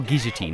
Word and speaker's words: guillotine: And when you come back, you'll be executed at the guillotine. Or guillotine, if you want to pronounce it that way.